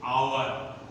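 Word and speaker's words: hour: अब तीसरा देखिए, अब तीसरा है, कभी कभी कुछ शब्द ऐसे होते हैं जिसमें यच साइलेंट होता है, अर्थात यच का उच्चारण नहीं करते हैं। जैसे यहां पर देखिए, आवर, ऑनरेबल, ऑनेस्टी।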